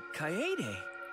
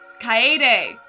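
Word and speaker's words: Kaede: please i'm begging you kayede kaye day it is kaye day okay cool i will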